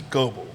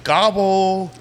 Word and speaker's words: Goblay: My last name is Goblay, and I'm like, and they're like, they'll say Gobble or Gobel, and I'm like, Gobble has 2 B's in it, bro.